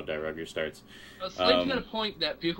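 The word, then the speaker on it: Dairugger: I always thought it was Die Ruger, but it's actually Die Rugger. It's Die Rugger. Yeah, it's Die Rugger would be, yeah. Yeah, I've heard everybody else call it Die Ruger. I know. That's how you say it. I'm just going by how the guy who sings the theme song pronounces it, so...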